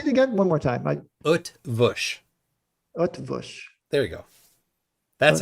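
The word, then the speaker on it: Eötvös: Utvush. Earthvush. Yeah. No, there's no R sound. Utvush is.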